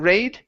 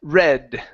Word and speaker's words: red: um let's try this short e sound here instead of red with the a sound raid it's e red the red the red